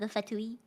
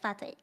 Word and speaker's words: Fatui: And if it's genuine, like you know the Fatui Yeah. in Genshin? Yeah. I didn't pronounce it that way at first. because I read it as Chinese, so I pronounced it as like Fatay.